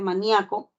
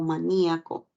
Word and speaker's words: maníaco: función distintiva como es el caso de la palabra maníaco No yo puedo pronunciar maníaco o maníaco y sea de una manera o sea de otra el significado sigue siendo el mismo no varía Okay no